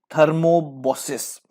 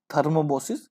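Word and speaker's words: thrombosis: उसके बाद 119, the disease थर्मोबोसिस, ठीक है, थर्मोबोसिस या थ्रोमोबोसिस, सॉरी, इसका सही प्रोनाउंसिएशन है थ्रोमोबोसिस।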